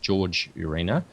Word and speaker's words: Jorge Urena: And he presented some images that were taken by a Jorge Urena, I believe his name is pronounced George Urena, when he was on a flight from or to Peru.